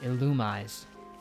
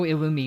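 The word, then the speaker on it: Illumise: already have our Volbeat or as I used to call it illumis I still call it that technically but I know ilum is the official pronunciation as if that's made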